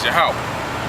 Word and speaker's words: Yahweh: as a tetr but the actual pronunciation if you can receive it if you're meant to receive it is yahwah yahwah yahwah yahwah okay okay so